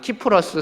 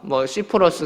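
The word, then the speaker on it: Cyprus: 요 앞에 그 작은 지중해에 있는 섬을 성경은 이제 구브로 섬이라고 말하고, 또 외국어로는 그냥 키프러스 섬, 시프러스 섬 이렇게 발음하기도 합니다.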